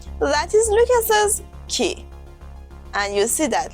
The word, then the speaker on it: Lucas's: We would say Lucas, but when we add the apostrophe s after a name that ends in s, We say Lucas's with a Z sound. Lucas's.